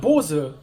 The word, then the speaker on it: Bose: actually an American company so it's just called "Bose" . "Bose" - alright, from now on, I'll say my "Bose" headphones & not my "Bos*e*" headphones.